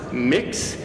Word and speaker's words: Mx: be respectful of this we use the honorific MX period and it is pronounced mix it's a way of